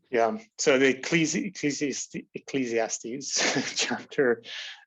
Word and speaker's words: Ecclesiastes: From Ecclesiastes. I said it wrong. Ecclesiastes.